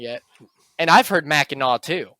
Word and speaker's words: Mackinac: But the way it's spelled is Mackinac. And I don't believe there's any language where the NAC makes the NAW noise.